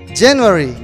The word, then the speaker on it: January: one is january okay january january january the stress is on the first syllable okay in the first